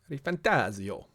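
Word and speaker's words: ReFantazio: 7 rebirth metaphor ref fantasio re fantasio you got to say it like that fantasio re fantasio um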